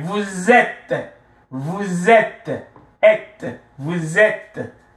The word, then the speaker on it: vous êtes: Vous êtes. Vous êtes, êtes, vous êtes, ok, vous êtes, ils, elles, sont, ok, je suis, tu es,